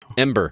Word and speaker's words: Embr: oh it's so good ember so and by the end to be clear it is spelled e-m-b-r if you were searching for it uh there's it's missing an e from the normal word like it's an app